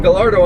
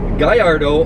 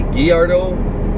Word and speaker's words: Gallardo: But if I use the term Gallardo, I'm not really doing the name justice. However, on the other flip side, if I use the correct pronunciation, Guyardo or Guyardo or Guyardo, as many people like